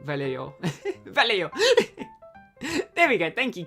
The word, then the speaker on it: Vallejo: Someone's laughed at me before for mispronouncing Vallejo. Vallejo.